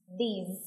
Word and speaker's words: these: Nhớ là có âm Z ở phía cuối, these.